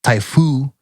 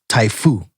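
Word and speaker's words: 台風: But in Japan, it's pronounced Typhoon with no N at the end.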